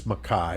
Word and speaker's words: Mackay: his name is spelled it might look like McKay but it's maai is how they say it so I I've always wondered if uh it was just like the British accent it's mck oh that that could